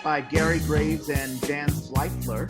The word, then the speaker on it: Zweifler: Central Works, the new play theater headed up by Gary Graves and Dan Zweifler. I think that's how you pronounce it. It is. ZV, Zweifler, yeah.